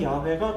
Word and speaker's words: 야훼: 그래서 정확한 발음은 여호와보다는 야훼가 더 정확한 발음이에요.